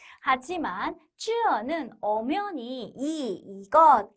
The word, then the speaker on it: 这: 가까운 것을 가리키는 这라는 것이 这라고 발음이 되니 우리말에 저가 먼저 튀어나오는 거죠. 하지만 쯔어는 엄연히 이것, 이 사람이란 뜻이지 절대 저것, 저 사람이라고 해석하시면 안 돼요.